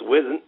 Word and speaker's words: Eisen: eisen who isn't and i always mispronounced duke's name and i hear about it later but it's wizn and uh anyway uh